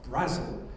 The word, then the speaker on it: Brazil: the late David Brazil spelled like the country but pronounced Brazil David Brussel in 1995.